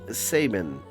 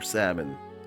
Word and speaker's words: Sabin: His name is Sabin or Sabin. I've always said Sabin, but feel free to correct me in the comments if you disagree with my pronunciation.